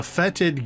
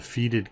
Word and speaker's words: fetid: of hag covens the fetid gaze uh I realized I had been mispronouncing by calling them the feted gays um when I was